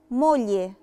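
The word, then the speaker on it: moglie: مولي، مولي مولي يعني زوجة، ما نطقتش برضو فيها خالص لا لترة جي.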